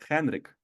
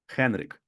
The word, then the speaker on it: Henrik: Es una H y lo pronunciamos como J en español.